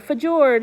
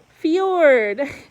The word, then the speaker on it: fjord: and number 12 it's not a fedora it's a fjord number 13 it's not